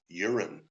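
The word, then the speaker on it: Jorunn: Nordic name uh and it's pronounced urine nice and so it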